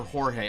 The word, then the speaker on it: Jorge: And I can see the names written in my head, and the one is either George or Jorge.